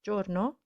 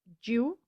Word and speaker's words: giorno: jallo not jialo so we say giorno instead of jew so we don't say